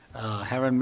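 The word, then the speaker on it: Haren: Heron. I live in Waldorf, Maryland, 2935 Merchant Court. And my name is spelled just like Karen with an H.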